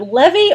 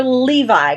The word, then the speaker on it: Levi: Is it Levy or Levi? Because I've heard it pronounced both ways. I think it's Levi, but don't quote me on that. Yeah. I've always pronounced it Levi, but Like the could be jeans. wrong. But I've heard people, not him, but other people say his last name and say Levy. So, I don't know.